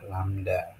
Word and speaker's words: lambda: dengan lambang kayak gini tapi ini bacanya adalah lambda nah panjang gelombang atau